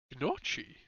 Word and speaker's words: gnocchi: Gnocchi?